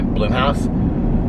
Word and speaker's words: Blumhouse: and were produced by bloomhouse it looks like blumhouse but i think it's pronounced bloomhouse and so i was